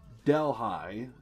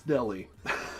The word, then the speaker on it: Delhi: So, I thought it was Delh High, but it's it's Delhi.